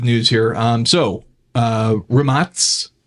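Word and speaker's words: Rimac: here um so uh remats which is a the correct pronunciation or you'll hear a lot of people call it rymock remotes is set 23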